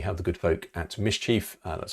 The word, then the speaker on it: MSCHF: And finally, we have the good folk at MSCHF. That's how you pronounce that.